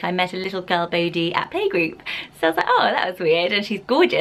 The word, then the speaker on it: Bodhi: it's really interesting so it could also be pronounced body and a few people on forums are saying